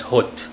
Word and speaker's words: Hod: This is in Hebrew known as Hod. H-O-D, that's how it's spelled.